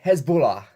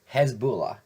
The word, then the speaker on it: Hezbollah: for ISIS, Iran, and Hezbollah. I know that's an actual group, but I can never pronounce it right, sorry. Hezbollah. It's how I pronounce it, but without the weird Dracula tint.